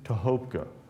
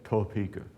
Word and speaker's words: Tohopka: Now, let me just say I'm teaching myself to pronounce the village built within the 100-acre bend, Tohopka. You probably have heard it called Topeka or something to that effect.